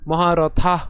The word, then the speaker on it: মহারথা: খেয়াল করুন, এখানে আমি মহারথা উচ্চারণ করেছি, থা। এখানে মহারথা উচ্চারণ করিনি, ত উচ্চারণ করিনি।